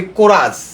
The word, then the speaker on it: chorus: আবার যদি বলি কোরাস, CHORUS, আমরা কিন্তু কোরাস, এইচের উচ্চারণ আমরা আসছে না।